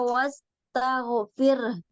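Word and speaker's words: واستغفره: ahiw terus fasabbih bihamdiabbika wastagfir tipiskan rnya wastagfir wastagfir Iya e jadi membacanya bir bir bisa Ya wastagfir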